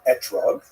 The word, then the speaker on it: etrog: We all know that the correct fruit to bring is an etrog, or an esrog in the Ashkenazi pronunciation, but it doesn't say so in the written Torah.